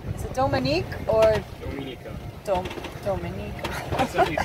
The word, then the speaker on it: Dominica: Dominica. That's at least how Chris Parker pronounces it.